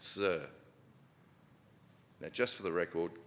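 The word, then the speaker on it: tzur: One of the titles we just said is Yahweh our rock, T-Z-U-R, pronounced Sir.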